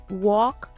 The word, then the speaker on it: walk: Silent L appears in words like walk, talk, calm, and half. There is no L sound here.